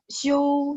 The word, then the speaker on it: 休: 明天你休息吗? Besok kamu istirahat nggak? Besok kamu istirahat nggak? Ingat, 休息, 休 kan X-I-U, bacanya X-I-O-U, ada O-U-nya, ya, ada O-nya.